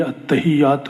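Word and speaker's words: التحيات: کو کہتے ہیں التحیات، اس کا کوئی غلط تلفظ بھی کیے جاتے ہیں، صحیح یہی التحیات للہ، تو التحیات کا لفظ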